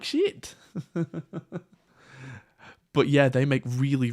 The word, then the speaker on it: Schiit: But the amp company are called Shit Audio. It's spelled SCHIIT, but it's meant to be pronounced exactly as you would imagine it.